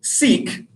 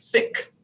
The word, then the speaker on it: Sikh: me use this word seek and that's a common english pronunciation of the term but in the punjabi language it's actually pronounced sikh so you can use